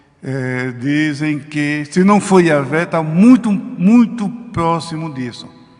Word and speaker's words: Yahvé: Jeová é um nome artificial, vamos assim dizer, porque a pronúncia mesmo bíblica, científica, podemos assim dizer, isso já foi feito estudos ao longo dos séculos, pessoas que se dedicaram a vida inteira nesta área, e todos a uma chegam à conclusão que a pronúncia dos hebreus, a pronúncia dos profetas, de Moisés, dos juízes, dos reis de Israel, se dirigiam a Deus como Yahvé.